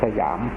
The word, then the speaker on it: สยาม: ของ ชื่อ ว่า ประเทศ สยาม ภาษา สันสกฤต ว่า สยำ บาลี ว่า สยัง พอ ออก เสียง เป็น ไทย ว่า สยาม เรา จะ เห็น จารึก